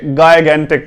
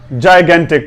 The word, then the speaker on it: gigantic: GIGANTIC अक्सर हमारे जो दोस्त हैं वो इसे गायगेंटिक पढ़ते हैं, जबकि ये कोई गायगेंटिक नहीं है, बल्कि इसकी जो करेक्ट प्रोनंसिएशन है उसकी तरफ बढ़ते हैं। JAAYE जाए, जाए, JAAYE जाए, GEN gain, GEN gain, TIC टिक, जायगेंटिक। गायगेंटिक नहीं पढ़ना, जायगेंटिक पढ़ना है।